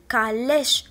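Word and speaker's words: calèche: الكلمة الموالية سي حداها ا، وكيف ما قلت لكم إلا كانت حدا ا كنطقها ك، إذن كاليش وغنوضعها في لا كولون دو دروات.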